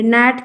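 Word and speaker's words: gnat: आगे आइए, ये वाला भी आता है, यहाँ पर क्या साइलेंट है, जी साइलेंट है, ए साइलेंट है, एन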